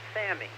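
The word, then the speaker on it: Salmi: I liked was Albert Sammy yes s-a-l-m-i the L is silent he played Jose Ortega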